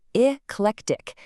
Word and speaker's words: eclectic: Our sixth word is eclectic. It is pronounced eclectic.